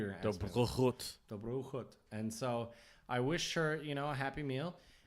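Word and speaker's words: Dobrou chuť: Dobru chut. I knew you were going to ask me. Dobru chut.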